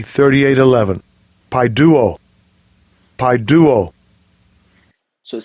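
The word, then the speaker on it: παιδεύω: I'll get the pronunciation. Strong's G 3811. Paiduo.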